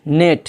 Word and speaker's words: gnat: इसी तरह GNAT, नेट, जिसका माना होता है मच्छर, हकीर, शैम, छोटी छोटी चीज़ें जिसको कहते हैं नेट।